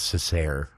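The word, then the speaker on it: Cesare: Anyway, Google says it's pronounced Caesar, but well, let's say that doesn't sound right.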